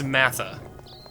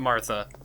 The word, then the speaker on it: Massa: name all these years it's massa it's not Martha I thought it was Martha I feel like an